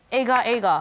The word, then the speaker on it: agar agar: So how do you pronounce it? Agar agar, right?